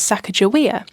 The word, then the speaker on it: Sacagawea: that's debated in hia her name is pronounced with a hard G so sakoa which translates into birdwoman or if it's Saka jaia it means boat launcher